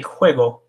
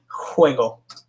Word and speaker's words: juego: The J is jota, and this one's also pronounced like we would pronounce an H in English. So this is el juego, the game, juego.